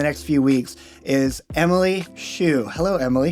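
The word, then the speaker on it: Schuch: So yeah, I know it looks like Scutch, Scooch, all Schmersh.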